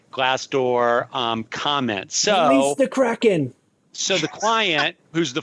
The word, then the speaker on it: Kraken: as, this is the way I'm going to pronounce it, Kraken, filed suit against several anonymous reviewers seeking to